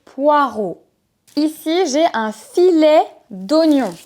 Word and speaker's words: poireaux: poireaux des poireaux alors en fonction d'où vous allez la prononciation pourrait être différente par exemple en Belgique ce légume on le prononce des porau des poraux mais en France on dit des poireaux ici j'ai un filet